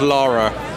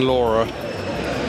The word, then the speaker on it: Lara: Buffy oh Buffy and Angel Tomb Raider it's pronounced Lara stop saying Laura yeah America we love living here but every